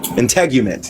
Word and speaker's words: integument: in how do you say that word intangument integument yeah of the feudal society in Britain by the imposition of industrial production is suggested elsewhere.